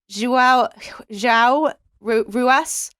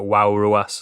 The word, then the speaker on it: João Ruas: It's probably pronounced something like Wow Ruas or something like that.